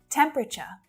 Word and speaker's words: temperature: Temperature, temperature. So it's not temperature, temperature, temperature, temperature.